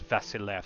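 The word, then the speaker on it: Βασιλεύς: It looks like the word Basilius, but the Greeks would have pronounced it as Vasilev, so that's what they called the emperor.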